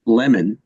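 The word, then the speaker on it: Lamon: man his name's it's actually prod pronounced lemon now he's a good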